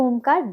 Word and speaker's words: ओम: एक ओमकार 10 सेकंड का होता है। ओम जो है वो 3 अक्षरों से बना है, अ, उ और म।